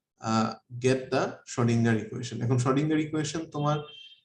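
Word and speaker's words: Schrödinger: আর উচ্চারণটা শ্রোডিঞ্জার না, উচ্চারণটা হচ্ছে শ্রোডিঙ্গার।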